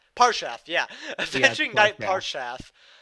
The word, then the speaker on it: Parshath: Jake, you're good at pronouncing. What? What? How do you Uh, say this card? Parshath? Parshath, yeah.